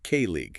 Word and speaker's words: colleague: It's pronounced k league. K league. Emphasis on the first bit. Exactly. The emphasis is on that first syllable.